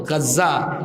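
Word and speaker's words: غزة: ওই মানচিত্রে দেখবেন সিরিয়া, লেবানন, জর্ডান, মিশর, এই দেশগুলো যে অংশে অবস্থিত, সেখানে বর্তমান গাজ্জা যে অংশে, আপনারা গাজা বলেন আর কি, আরবি উচ্চারণ হলো গাজ্জা, এই গাজ্জার অংশে লিখে দিয়েছে গাম্বিয়া।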